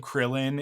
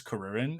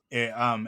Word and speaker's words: Kuririn: I have such a hard time because he has become Krillin in North American culture, but his name is Karurin. It's Karurin, and when you read it I'm learning Japanese right now.